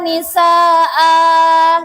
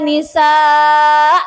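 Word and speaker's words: نساء: Tidak boleh dibaca katsirau wa nisa, tidak boleh. Atau dibaca katsirau wa nisaan, nggak boleh juga. Jadi yang tepat dan benar adalah cara bacanya ini adalah katsirau wa nisaa, seperti itu, seperti mat asli atau mat tobi'i.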